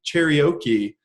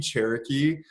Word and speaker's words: Cherokee: said oh it's a it's a Jeep cheerio key and the guy just started the guy started laughing he was like do you mean Cherokee I was like oh